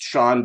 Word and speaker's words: Chaon: Yeah, and I just want to let your listeners know that it's pronounced Chaon, but it's spelled Chaon. Yeah. So there's no way to really find the book if you just hear the name.